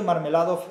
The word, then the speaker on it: Marmeladov: De hecho, Marmeladov es un... casi parece que uno está pronunciando la palabra mermelada.